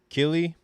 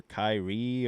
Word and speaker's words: Killy: His name is Killy or Kyrie or Kiri in some some pronunciations.